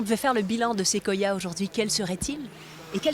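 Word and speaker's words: séquoia: Si on devait faire le bilan de Sequoia aujourd'hui, quel serait-il?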